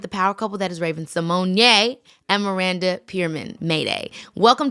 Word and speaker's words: Raven-Symoné: of the fact that everybody in the world has been pronouncing your name apparently incorrect? Like Raven, we didn't know that it was Raven Simone.